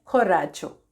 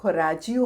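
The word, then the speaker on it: coraggio: Spelling आ जाएगी, बोलते इसे हैं खोराचो, खराचो। ठीक है, स्पेलिंग से लग रहा होगा कि ये खोराजियो होगा, बट प्रोनाउंस करते हैं खोराचो, खोराचो।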